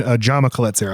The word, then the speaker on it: Jaume Collet-Serra: Jaume Collet-Serra, I believe is how you pronounce his name.